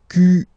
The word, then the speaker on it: quel: Quel, masculine form here, will be pronounced exactly as the feminine form here. Quel. So only one sound, okay?